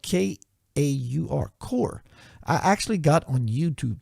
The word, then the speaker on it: Kaur: Kaur. I actually got on YouTube today and said, "How do you pronounce that?"